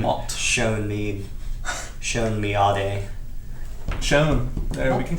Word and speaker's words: Shon: Shon. There, we can call you Shon. Miade. Your name is spelled S-H-O-N.